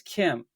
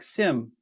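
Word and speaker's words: CIEM: Cloud infrastructure enement management it's pronounced as Kim Kim okay Kim so it does not sound like Sim as the other acronym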